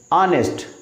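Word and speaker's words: honest: ऑनेस्ट। इसमें H silent है।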